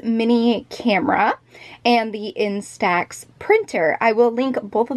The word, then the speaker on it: Prynt: I believe it is called the print pocket but it is spelled like this PR ynt if it looks just